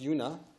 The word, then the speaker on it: Una: in Alexandria Dakota territory she attributed her name pronounced Yuna to her father's admiration